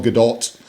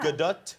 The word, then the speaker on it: Gadot: Gadot. More T at the end. Yeah. Gadot?